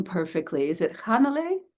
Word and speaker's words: Hannele: name perfectly is it hanal something more like more emphasis on the beginning of it yeah yeah yeah you you put the emphasis on the first syllable H okay thank you